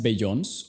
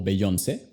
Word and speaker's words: Beyoncé: No es Beyoncé o Beyoncé. El apóstrofe hace toda la diferencia. La enfatización se mueve al final. Si no hubiera un apóstrofe, sería como Beyoncé.